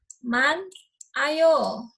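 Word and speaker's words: 많아요: akhir contoh yang kedua ada Man ayo dibacanya menjadi mana yo jadinya tinggalkan seolah itu enggak ada gitu loh tapi tulisannya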